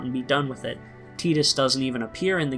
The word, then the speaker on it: Tidus: ball game even though we got the correct pronunciation a few years earlier with kingdom hearts one me and titus we are gonna do a little exploring today